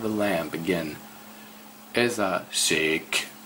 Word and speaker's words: szék: Ez a szék, szék. Get that right again, chair. Very difficult pronunciation.